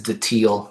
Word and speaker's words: datil: I call we call it daddle, right? But Hmm. some people call it daddle, Yeah, and then some people have argued that the proper pronunciation is Datil that's what I thought.